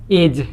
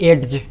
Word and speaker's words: edge: EDGE एज, ना कि एड्ज।